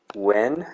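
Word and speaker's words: Yuen: Wen, I think is how you'd pronounce his name. Y-U-E-N.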